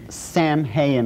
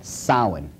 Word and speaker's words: Samhain: as if it's saying samhain or something like that no no no no this is properly pronounced in the ancient gaelic as sowen sowen according to occult